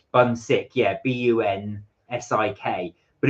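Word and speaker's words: 분식: called Bunsik, which is, I think it's pronounced it's Bunsik, that's it, but it is written Bunsik.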